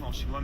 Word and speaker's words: 香港: 还有，在中文里 Et faut savoir, Hong Kong on dit pas Hnog Kong en Chinois 香港读作 Xiang Gang Mais On dit Xiang Gang